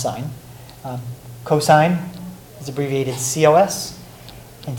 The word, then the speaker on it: sin: for on the calculator so sine is abbreviated s IM still pronounced sine cosine is abbreviated cos